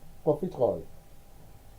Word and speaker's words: profiterole: How do you pronounce that? Profiterole. It's French.